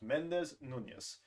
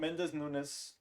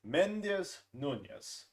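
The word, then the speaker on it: Méndez Núñez: It's pronounced Mendez Nunez, not Mendez Nunes.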